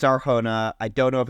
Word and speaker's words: Arjona: Adria Arjona, is that how you pronounce her last name? I think so. Yes, it's Arjona.